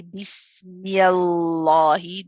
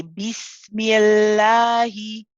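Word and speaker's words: بسم الله: So we do not say Bismillahi. This would be incorrect. We say Bismillahi.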